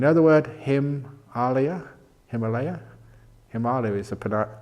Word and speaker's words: Himalaya: an earlier in other word him alia Himalaya Himalaya Sapna correct panache a pronunciation that is a place where the snow